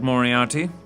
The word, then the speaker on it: Moriarty: M-O-R-I-A-R-T-Y, Moriarty.